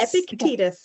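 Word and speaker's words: Epictetus: Epictitus.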